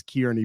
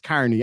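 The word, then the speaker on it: Kearney: Carney, isn't it? Or he probably pronounces it wrong and says Kieran, but it's Carney.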